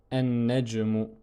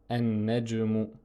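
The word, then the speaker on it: النجم: Et lorsque on lui ajoute l'article el, on va dire an-najmu, an-najmu. On ne prononce pas le lam et on dédouble le nun avec la shadda, ce qui donne, si on détaille la prononciation, cela donne ceci.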